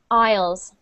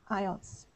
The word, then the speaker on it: aisles: This is a tricky word because it starts with an A-I, which should be A, right? But we actually pronounce this one like this. Aisles. Aisles. Yeah. Just like you say aisle, I'll be there in a minute.